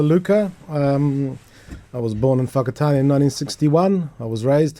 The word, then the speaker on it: Whakatane: You're about to say Whakatane, you changed to Whakatane.